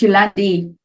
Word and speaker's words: Jolande: No, it's Afrikaans pronunciation, so don't stress. It's Yolandi.